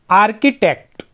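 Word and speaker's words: architect: आर्किटेक्ट, यहाँ पे CH से क ही पड़ता है।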